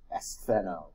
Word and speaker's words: astheno: But astheno is how you pronounce that.